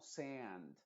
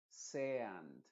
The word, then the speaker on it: sand: La del inglés suena muy parecida a una EA, es decir, se pronunciaría como sand, sand, sand, pero se dice